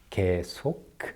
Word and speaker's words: 계속: And that 계속 at the end is pronounced with a clear K, like that, 계속.